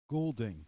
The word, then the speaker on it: Goulding: ali goulding g-o-u-l-d-i-n-g what what is it golding golding like molding ellie golding she sings what does